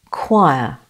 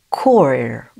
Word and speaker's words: choir: The pronunciation of answer B is choir. Choir. Choir. Totally wrong. It is a tricky word though. The R is silent and takes the schwa.